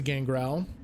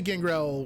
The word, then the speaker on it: Gangrel: Well, he's just a Gangrel with additional style, right? He's like Lord of the Gangrels. I don't know how I would get to that, though. Gangrel. Okay, so it is on the second syllable.